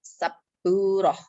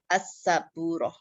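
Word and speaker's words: سبّورة: Nah, kalau dia tidak pakai al, sinnya ini tidak bertasydid. Yang bertasydid adalah baknya saburoh atau saburotun. Itu ya, kalau pakai al itu nanti masuk ke hukum alif lam, ketika ketambahan lam jadi as-saburoh. As-saburoh.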